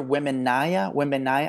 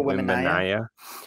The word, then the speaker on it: Wembanyama: Victor Wembanyama. I just met the guy. Victor Wembanyama.